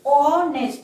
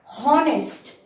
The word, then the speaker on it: honest: Similarly for honest as well, when we pronounce honest, honest, we are saying honest, not honest. In most of the cases, H remains silent.